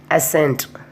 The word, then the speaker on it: ascent: Next, ascent. Next, miscellaneous. Next, fascinate. So the rule 1, C is not pronounced after the letter S and also in the combination of SC.